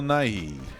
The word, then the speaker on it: Nighy: I say his name that's how you say his name Bill Nighy and Bill Nighy has